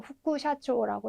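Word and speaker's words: 副社長: 근데 요건 좀 독특하게 후쿠라는 발음을 가집니다. 그래서 뭐 부사장님 이런 거 하실 때도 후쿠샤초라고 해주셔야 되고 또는 뭐 부사, 우리 동사, 품사 뭐 이런 거 할 때는 부사 같은 경우에도 후쿠시라고 읽어주셔야 됩니다.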